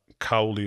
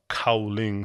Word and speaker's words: Cowling: the uh authors uh i think i may have mispronounced his his last name is uh cowley or crowley i don't know why it's actually uh cowling c-o-w uh l-i-n-g so we'll probably in